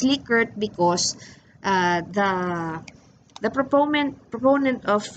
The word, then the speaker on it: Likert: scale in for those of you wondering it's pronounced Likert because the proponent proponent of liquids scale is